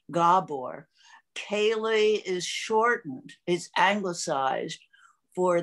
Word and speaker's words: Kaley: annual gabor kailey lecture and that's how it's pronounced gabor kaylee is shortened he's anglicized for the unpronounceable to